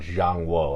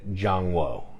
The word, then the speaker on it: ZhanGuo: And this game is called ZhanGuo. I don't even know if I say it right. CH is J sound. ZhanGuo.